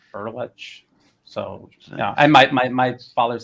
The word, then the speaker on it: Berletic: Well, it's ordinarily it's Berletic, but the proper Croatian pronunciation is Berlech.